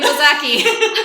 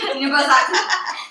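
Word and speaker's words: 犬吠埼: Inubozaki. Inubozaki.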